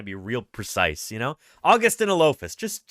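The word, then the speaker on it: Augustynolophus: So you put it all together, it's Augustinolophus Morrissey.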